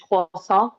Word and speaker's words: croissant: Maybe like a French croissant. That's how you pronounce it correctly, by the way.